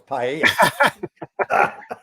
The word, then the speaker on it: paella: Well, I have to teach you how to say it first, though. It's paella.